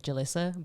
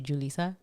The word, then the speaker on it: Julissa: It's kind of like when they say about your name, when they're like, oh, like for me they call me like Julissa, but it's actually Julissa.